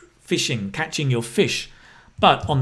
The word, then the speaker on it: phishing: is right fishing interesting why it's got ph i don't know why it uses ph but this pronunciations like fishing i think it literally